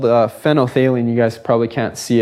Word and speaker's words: phenolphthalein: phenolphthalein with me, because when you see it written, there's like a PHENOL, HALEIN. It's kind of a really weird word. And when students first say it, they never say it right.